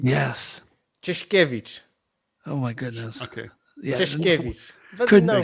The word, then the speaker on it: Czeszkiewicz: Can you please give us the pronunciation of your last name? Yes. Kevich.